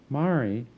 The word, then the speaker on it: Mari: The oldest Sandoz daughter later accepted the spelling M-A-R-I and a pronunciation stressing each syllable equally, but not unlike Bess Streeter Aldrich's fashioning of her own name. Maury Sandoz's childhood was difficult in many ways.